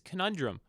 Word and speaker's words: conundrum: well it's this weird ah how do I pronounce this word conundrum conundrum it's conundrum what do we do do we go all